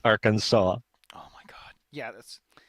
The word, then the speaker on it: Arkansas: They spelled it the same way, but apparently in French you pronounce it as Arkansas, and it's like, what?